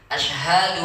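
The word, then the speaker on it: أشهد: Jelaskan shinnya, makhraj shinnya ya, kemudian ha-nya ya.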